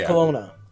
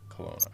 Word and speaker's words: Kelowna: The city is Kelowna. Kelowna, okay.